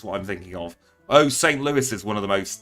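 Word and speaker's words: St. Louis: a spare rib here is it pronounced St Louis or St Louis I want to make sure I'm pronouncing that correctly St Louis with the S Lewis unfortunately what what's so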